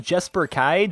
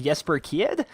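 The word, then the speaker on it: Jesper Kyd: to pronounce his name it looks like jper kid but I think it's actually pronounced yesper kid I'm not sure he's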